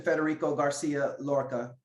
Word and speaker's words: Federico Garcia Lorca: You mentioned Charles, you mentioned Edgar, you didn't mention Federico Garcia Lorca. Did I mention his name? Did I pronounce his name right?